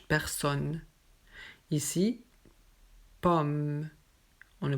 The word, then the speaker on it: personne: On ne dit pas personne, non, juste personne.